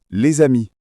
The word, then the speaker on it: les amis: La liaison, c'est quand on prononce la consonne finale d'un mot parce que le mot suivant commence par une voyelle. Par exemple, les amis se prononcent les amis. Ah oui, le s de l' se prononce comme un Z.